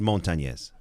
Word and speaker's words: Montañez: Richard Montañez. Richard Montañez. Yes, Montañez. Montañez. You can't get that in. Just Montañez. Montañez. There you go. Some people say Montañez, but it's Montañez.